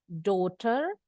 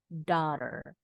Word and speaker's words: daughter: bunyinya o bacanya Boleh daughter atau daughter the americans pronounce this word as daughter while the British pronounce